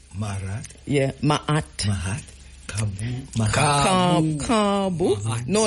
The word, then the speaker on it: Ka'bu: So the A is long, so car, and then a bo short. So it's Cabo. Marat. Yeah, Ma'at. Mahat. Kabu.